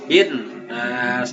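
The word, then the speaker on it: الناس: Bin nas, alif lamnya tidak dibaca tapi langsung diidghamkan ke nun. Bin, bukan bil nas tapi bin nas.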